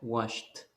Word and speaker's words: washed: Le pongo la ed y yo lo voy a pronunciar washed.